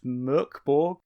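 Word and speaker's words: Mörk Borg: you haven't already seen i believe it's pronounced murkborg but given that their main discord forum is called general morkyborki i think they're not too fussed about how you pronounce it and this is the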